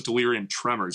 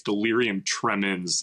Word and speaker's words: delirium tremens: I thought it was delirium tremors. Apparently it's delirium tremens.